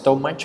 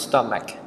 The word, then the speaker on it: stomach: so be careful with this word some people pronounce so much or something but it is wrong you should pronounce stomach it's the right way to pronounce this word